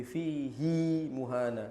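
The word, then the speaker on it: فِيهِ مُهَانًا: namanya mad silah qasirah yaitu dibaca dua harakat pada huruf h-nya jadi fihi muhana begitu cara bacanya bukan dibaca pendek azzaidir.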